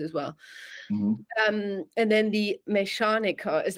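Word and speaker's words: Mechaniker: So again, if you unsure sometimes, like do the syllables. Mesh. So you push out, you know, your soft ch, and then anica.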